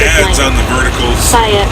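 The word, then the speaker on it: Saia: Saya is how you say it.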